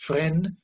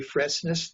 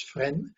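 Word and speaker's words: Fresnes: caught went to friend prison it's called it's pronounced friend we say freshness no it's friend prison outside of that terrible prison uh a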